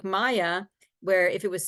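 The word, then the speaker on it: Maja: British best friend's name from high school is pronounced Maya but spelled m Aja a Maya thank yeah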